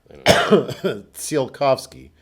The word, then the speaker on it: Tsiolkovsky: USS sealed coughs key is there not a silent T there because Picard I felt was sort of half pronouncing a silent T there yeah it's it's one of the more awkwardly named ships I didn't start anyway because half the time they're Picard is pronouncing in with like a kind of a T sound at the beginning seal coughs go there